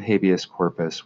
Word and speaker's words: habeas corpus: But in this case, a document called a writ of habeas corpus, I'm using the very English pronunciation of it, a writ of habeas corpus was issued by a